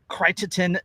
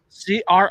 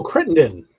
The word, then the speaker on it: Crittenden: andrew know about the critertin johnson resolution of 1861 pretty sure you're mispronouncing that um c-r-i-t-t-e-n-d-e-n oh crittenden crittenden don't google it come